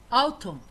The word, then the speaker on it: autumn: Autumn autumn ديرتا خريف.